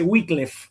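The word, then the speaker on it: Wycliffe: en la primera sílaba, pero en castellano, a men de consignarse con i latina, suele suele decirse y suele escribirse wiklef con e.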